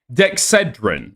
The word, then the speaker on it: Dexedrine: Dexedrine is how they pronounce it in the United States.